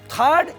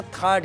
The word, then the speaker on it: THAAD: कर पा रहा है थर्ड यानी टी एच ए AD spelling इसकी यही है जिसको अमेरिकी सेना थर्ड कहती है हम थड के बारे